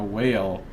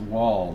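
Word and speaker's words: Wael: fan of Galloway now whale or wall as it's pronounced wall the god of Secrets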